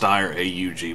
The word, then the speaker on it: Steyr AUG: it would be great and ya know it's pronounced steyr AUG bound care i called holligan sounds cooler least